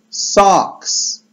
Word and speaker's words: socks: Skarpeta to będzie a sock, ale to nie sok pomarańczowy, tylko takie OA, więc skarpety, socks, socks, skarpety, socks, socks.